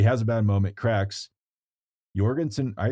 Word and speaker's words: Jorgenson: nuts but he has a bad moment cracks Jorgenson I it's Jorgenson we should say his name right now that